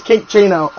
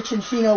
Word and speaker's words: Minccino: Never pronounce it as Kinchino. If you get a Chinchino with it's skill wing.